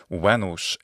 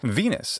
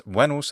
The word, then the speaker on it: Venus: the Olympian goddesses perhaps the most famous is venos in Latin Venus in English Venus in ecclesiastical pronunciation is Venus Venus in Latin literally means loveliness thus wenos the goddess Venus is the embodiment of loveliness